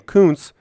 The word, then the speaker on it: Kuntz: We need to be sure to pronounce his name Kuntz, other than the other way you could say it because that might be bad.